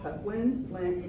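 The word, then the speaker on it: Patwin: that lived here before us the pwi um it's spelled p w i n but that it's a sof piece of petwin the Indians and that means people in their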